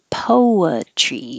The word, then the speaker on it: poetry: Poetry. It can be or I, poetry, but 3 syllables, poetry, which is different than chicken, which is poultry.